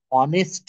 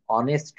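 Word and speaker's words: honest: হচ্ছে না এখানে উচ্চারণটা হচ্ছে হি ইজ অ্যান অনেস্ট ম্যান আর এইচ এর উচ্চারণ হনা না হয়ে যদি অয় এর মত হয় তাহলে এন বসে my father was অ্যান অনেস্ট doctor এরকম যদি আমরা কেউ বলি মাই ফাদার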